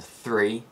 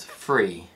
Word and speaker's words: three: my first mistake now when the f and sounds appear in words like with and three i often replace them with the f and sounds so i pronounce these words with and free this is known as